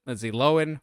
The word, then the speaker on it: Lindsay Lohan: And yes, that's how you pronounce it, Lindsay Lohan, which is just sounds weird to say.